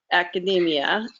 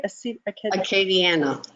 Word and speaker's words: Acadiana: of the Writers Guild Academia, am I saying that right? Acadiana. Acadiana. I didn't say it right.